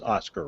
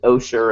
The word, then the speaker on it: OSCER: Education and Research is OSCAR, right? That's correct, yeah. And we know that a lot of people, when they see OSCER, are going to pronounce it OSHER, and we've just learned to live with that.